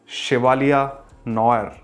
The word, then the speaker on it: Chevalier Noir: Welcome back to my channel and today we are unboxing शिवालिया नोर। शिवालिया नो आर। Yes. Dots the correct pronunciation because it's might be a French word.